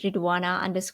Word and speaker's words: Ridhwana: My username is ruana k. Uh my name has a silent h so it's r i dh w a n a k.